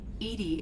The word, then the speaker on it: EDI: are you named edie edie is the phonetic pronunciation of that is an acronym for